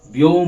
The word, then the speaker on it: ব্যোম: ব্যোম ব্যোম ব্যোম, bomb নয় কিন্তু, বানানটাও আলাদা। বোম বানান হচ্ছে বয়কার ম, আর ব্যোম বানান হচ্ছে বয়ে জ ফেলা ওকার ম।